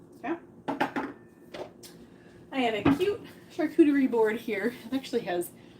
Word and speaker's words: charcuterie: So, if you're not new to charcuterie, uh first of all, that's how you say it, charcuterie. It's not a shark.